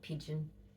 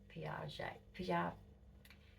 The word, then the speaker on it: Piaget: I used to call him Pigeon because his name sounds like pigeon, but it's Piaget. Can't even say his fucking name.